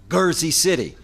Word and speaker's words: Jersey City: that you know in in Arabic um you have a soft and then the hard G so you can say Jama or you can say G and the Egyptians refer to it as gersy city with a hard G I got into a